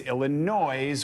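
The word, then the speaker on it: Illinoise: It's Illinois with an E at the end.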